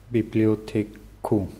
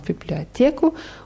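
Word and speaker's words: библиотеку: Bibliotheka klingt fast wie im Deutschen. Bibliothek. Genau, wieder mit der Präposition w. Wohin? W. Bibliotheku. Genau, Bibliotheku.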